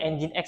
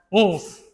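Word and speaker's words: nginx: ada engine X ya dibacanya engine X ya. Jangan ngings, jangan engine X.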